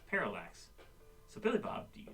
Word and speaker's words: parallax: You're missing a syllable there, please. It's parallax.